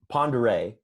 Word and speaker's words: Pend Oreille: I went up to ponder a is how it's pronounced but it don't look like Pend Oreille telecoil gotcha yeah so